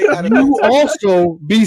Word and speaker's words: Adamantium: How do you say antimanium? Adamantium.